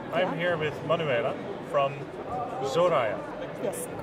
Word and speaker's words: Zoraya: I'm here with Manuela from Zoraya. Yes, Am I correct.